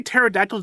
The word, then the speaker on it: pterodactyl: Like when you say pterodactyl, do you pronounce the P in it?